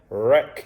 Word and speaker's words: wreck: can't hear that k wreck you can't hear that w uh and nash you